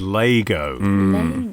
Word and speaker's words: Lego: Although I should say right up top that the official pronunciation, which I'm not expecting us to stick to, but it needs to be said, is Lego. It is Lego, even though no one does.